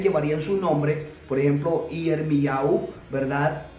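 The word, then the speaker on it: ירמיהו: Por ejemplo, Yirmiyahu, ¿verdad? No se dice Jeremías, sino Yirmiyahu.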